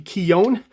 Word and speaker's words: Keown: of writing here uh I've been told in some of the comments that it should be keone okay and then when